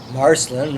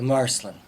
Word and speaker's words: Marcelin: It's kind of odd that they have anglicized the pronunciation of the town's name, the Marcelin.